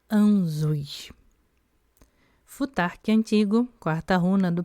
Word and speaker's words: Ansuz: Nome Anzuz, pronúncia Anzuz.